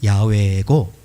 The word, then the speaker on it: 야훼: 실제 히브리어 원래 발음은 야훼고 히브리어 동사의 시제가 세